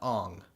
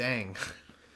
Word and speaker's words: Aang: That's more so about changing the pronunciation of his fucking name. Aang to Ong. It's fucking stupid. Yeah. I don't care there's two A's in it. Fucking M. Night Shyamalama Ding Dong. It's Aang.